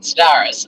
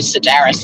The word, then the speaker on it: Sedaris: joy that it's David staris um it's actually Sedaris I think too correct pronunciation by him I believe is Sedaris I've always called him